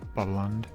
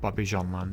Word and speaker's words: Bobbejaanland: So the next one on this list is Fury, not Fury 325 at Carowinds, but Fury at Bobbyland, or at Bobbejaanland I should say.